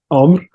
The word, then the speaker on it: Amr: My name is Amr. That's how you pronounce my name.